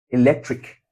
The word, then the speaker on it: electric: electric electric electric All right? electric. So the stress syllable should be here this lec, all right?